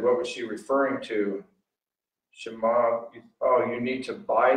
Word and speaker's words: Shema: So I pronounced Shema Israel.